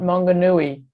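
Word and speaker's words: Maunganui: comes this is mount i'm so i can't pronounce that name um could you repeat that again please it's mount mongonui yeah yeah right right that picture super that's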